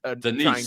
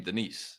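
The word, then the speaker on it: Daniss: Denise, I believe it's like the woman's name, Denise.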